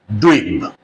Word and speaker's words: dweeb: So the single word is Dweeb. Let me write down. D W double E B. The pronunciation is dweeb.